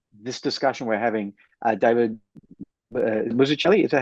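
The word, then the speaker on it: Mazzucchelli: Um and and I so I feel like this discussion we're having David Muchelli is that how you pronounce it?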